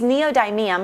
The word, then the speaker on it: Neodymium: They use neodymium magnets to deliver excellent sound.